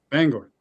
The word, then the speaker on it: Bangor: Bangor. Bangor. Oh, okay. You actually say it like a like a normal American.